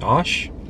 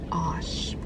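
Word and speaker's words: aush: um this thing called it's pronounced or spelt a-u-s-h ash osh what is that that was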